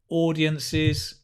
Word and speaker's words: audiences: public so again public audiences all of this useful vocabulary right notice the pronunciation audiences not ow but or like oh are audiences audience singular plural audiences make sure you get the cis audiences um nice good so